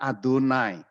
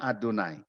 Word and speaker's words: YHWH: Itu 4 huruf yang dibaca Adonai. Jadi huruf itu nggak bisa dibaca, atau lebih tepatnya orang Israel tidak membaca 4 huruf itu, maka ketika mereka membaca 4 huruf Yod He Vav He itu, mereka membacanya Adonai.